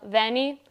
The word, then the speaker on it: Vanyi: social media and it's literally my name vanni it's spelled v-a-n-y-i because i have to say it because it's a very weird last name so there you go guys make sure you follow vennie she's going to be hopefully performing more this